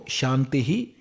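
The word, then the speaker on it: शान्तिः: And how to pronounce that, you see, we can pronounce like this, Om Shantihi, Shantihi, Shantihi.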